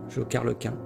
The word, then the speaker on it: Jokerlequin: Comment tu prononces? Jokerlekin? Jokerlequin. Ah, Jokerlequin. Ok, Jokerlequin. Ou Jokerlequin. C'est peut-être une fusion de Joker Harley Quinn.